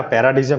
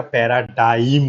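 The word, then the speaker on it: paradigm: পি এ আর এ ডি আইজি এম এটা বানানটা না প্যারাডিজম লিখেছি কিন্তু উচ্চারণটা প্যারাডাইম হয় ডি আই এম ডি আই জি টা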